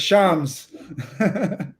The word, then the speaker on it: Shams: jake hess go shams so am i saying your name right because i heard you say stress i'm sure you're just saying yeah so everybody listening now you can't say your name wrong anymore it's shams all right so i